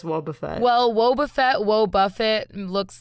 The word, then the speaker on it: Wobbuffet: to Boba Fett I thought this Pokemon was pronounced woe Buffett it's Wobbuffet if there's one thing to know about Pokemon it's that nobody pronounces the names correctly of Pokemon but I'm pretty sure it's Wobbuffet well Wobbuffet whoa Buffett looks nothing like Boba